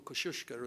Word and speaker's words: Kosciuszko: to the top of kosciuszko or kosciuszko as my polish friends tell me it should be pronounced it's like going to